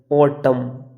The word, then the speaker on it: autumn: किसी भी वर्ड में अगर आपको एम और एन दोनों एक साथ में दिखें तो वहाँ पर हम एन को साइलेंट रखते हैं। जैसे ये लिखा हमने AUTUMN ऑटम, यानी कि एम और